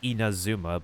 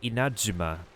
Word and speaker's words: Inazuma: So the most English way to say the nation is um inazuma but the actual pronunciation has a hard pause in between. So you say inuma and the z is kind of pronounc turns into a j in a way.